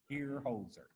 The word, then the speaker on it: Hierholzer: people the easiest way to remember how to pronounce it is if you had a dog named hozer just call it here holzer it works so sometimes i have to try